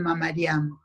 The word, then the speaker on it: Mamarian: es María Mamarian, aunque no tenga acento el apellido, porque los apellidos de origen armenio terminan en ian y debería llevar acento en nuestro castellano, pero no llevan acento, pero se pronuncian Mamarian.